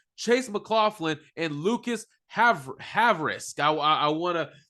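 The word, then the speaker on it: Havrisik: their practice squad Chase McLaughlin and Lucas have have risk I I want to pronounce that name right haverisk okay haveris this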